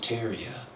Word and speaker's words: Tartaria: be again the great tartarian Empire tartaria originally pronounced Taria without the first R is the name of